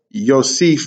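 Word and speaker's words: יוסף: sound the u makes the y the hole on valve makes it o so you have yo and this might sound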